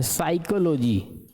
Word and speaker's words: psychology: साइकोलॉजी यहां पर P silent है।